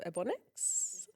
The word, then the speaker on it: Ebonix: Welcome back to the Girl Talk podcast, and welcome to Dani, creator of Ebonix. I always feel like I'm going to pronounce it slightly wrong.